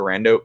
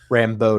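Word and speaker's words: Rambeau: 80s outfits when monica rando pops up in that one trailer rambo not rando rambo yeah i just mispronounced it um you like that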